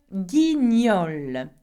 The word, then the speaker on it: guignol: Le guignol, okay, there's two G here. Le guignol, okay, niol, g-ni-ol, okay, not gonna, niol.